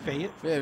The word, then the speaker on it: Fayetteville: Fayetteville.